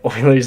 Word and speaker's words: Euler: Right, everyone knows Oilers number, except people pronounce it Euler.